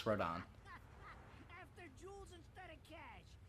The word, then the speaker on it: Rodin: At least let me get a drink at Rodon's before Rodans. It looks more like rodents. I got Why does he call it No, Rodans? no, it is pronounced Rodon.